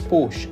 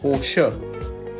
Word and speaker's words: Porsche: Um, also it's not pronounced Porsche apparently. It's pronounced Porsche.